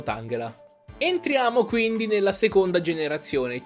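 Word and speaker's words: Tangela: mani dall inglese e anche il pokémon tanghel ha dato che in inglese ed angela sarebbe la corruzione della parola tangled allora andrebbe pronunciato tanghera entriamo quindi nella seconda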